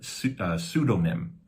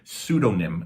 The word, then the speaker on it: pseudonym: or a false name pseudonym um uh don't pronounce the P the p is silent so it's pseudo uh pseudonym so um this normally